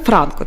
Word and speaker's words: Франко: Дуже важливо поставити правильно наголос. Я вже не раз це писала, тому що це не Іван Якович і не полководець. Це Франко.